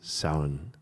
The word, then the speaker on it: Samhain: And the way to pronounce it is Samhain. It's subtle, isn't it? Samhain.